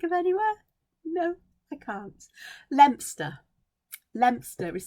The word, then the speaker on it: Leominster: i can think of anywhere no i can't lempster lempster is spelled leominster but it's pronounced lobster and you